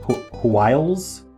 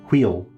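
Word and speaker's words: hwyl: Hwiles. All right, we're going to look it up. It's British for fervor or excitement. It's pronounced wheel. I think it's wheel. Or quill. Could be quill.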